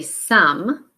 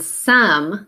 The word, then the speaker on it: some: and repeat it say some and notice your vowel sound again like from and some they both have the sound but we're gonna spell it with an O and then we have